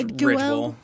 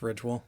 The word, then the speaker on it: Ridgwell: It's spelled Ridgwell. And so Ridge has an E at the end. So I was wondering if it should be Ridgwell. Yeah, I would say it's just Ridgwell.